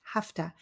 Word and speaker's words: have to: or have to i have to you see how the pronunciation changes in the sentence hafta i have to get